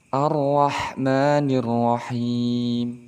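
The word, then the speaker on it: الرحمن الرحيم: sebagai tafhim artinya tebal cara melafazkan tafkhim ini kita perhatikan gambar berikut ini jadi posisi lidah kita ujung lidah kita berada di langit-langit kemudian pangkal lidah kita agak naik arrahmanirrahim itu syarat yang pertama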